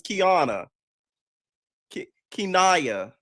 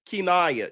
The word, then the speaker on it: Kinaya: I thought your name was Kiana Kaya. Kinaya child.